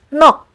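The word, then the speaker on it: 넋: Like for example, in the combination of these two final consonant sounds, you only pronounce the k sound. Like in the word nok, which means soul.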